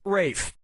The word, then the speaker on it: Ralph: 3 yeah ray finds first name is spelled like Ralph but pronounced Rafe and his brother Ragusa